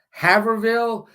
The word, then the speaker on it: Haverhill: I'm sorry, She goes 100 and some miles up to Woodville, Haverhill, and that's the way it's pronounced. It's spelled Haverhill, but the H is silent.